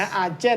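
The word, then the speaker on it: argent: อะไร สัก อย่าง ออก เสียง วัน เนี้ย นะ อาเจน นะ ครับ เพิ่ง เป็น ภาษา ฝรั่งเศส แปล ว่า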